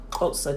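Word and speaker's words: Xhosa: like a it's a it's that tongue click so if you see X you know they have a coaster try try to speed it up closer but it's spelled X H OS a and actually if you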